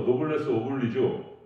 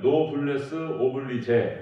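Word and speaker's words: noblesse oblige: 이제 프랑스어로 노블레스 오블리주 또 다르게 읽으면은 노블레스 오블리제 이렇게 표현하기도 하는데요. 영어식 발음으로는 노블레스 오블라이지 그러니까 이제 노블레스 축복받지 못한 사람들에 대한 책임과 의무 이렇게 얘기하는 것입니다.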